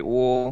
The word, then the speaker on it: Uhl: Usually people say Uhl, which I think is the right pronunciation, but my family's always said Uhl.